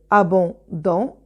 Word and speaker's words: abondamment: on prononce a violemment la même chose pour à bon dans abondamment en garde ah bon dans et après on ajoute de zem deux consonnes m pour prononcer ah bon da mon c'est une règle